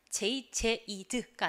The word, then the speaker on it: 제이드: 그러니까 여러분이 문장을 읽으실 때 우리나라 말처럼 제 이름이 뭐라고요? 제이드. 이렇게 읽으시면 안 돼요. 자, 우리나라 말은 제이 이런 음절이 딱딱 끊어지는 그런 언어를 가지고 있고요. 우리가 지금 보고자 하는 영어는 잘 아시겠지만 제이드가 아니라 제이드입니다. 한음절이에요.